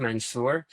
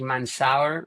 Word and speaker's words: Mansour: And I love how great you pronounce my name, Mansour. Usually usually it's not that easy. Some people might say Mansour or stuff like that, but we are very fluent in pronouncing it.